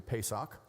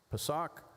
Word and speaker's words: Pesach: Passover as the noun, Passover as the verb, pronounced as best as I can do, Pesach.